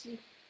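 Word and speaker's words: し: So I know it's hard for some of us to pronounce this. It's she.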